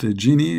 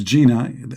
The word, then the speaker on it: genie: okay remember you know you have to pronounce the word genie correctly that don't don't think it's Gina you know you will be in trouble because you know Gina is a teenage they will say you